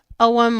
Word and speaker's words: Ogham: And it's about the OM. It's spelled Agum. O G H A M. It's pronounced ow or you'll hear people pronounce it a little